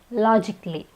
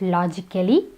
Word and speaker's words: logically: It's logically, not logically, it's logically. Here, the A is silent.